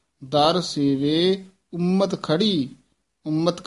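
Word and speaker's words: ਉਮਤਿ: दर सेवे उम्मत खड़ी उम्मत कस के बोलना है मस्कल हुए जंगली दर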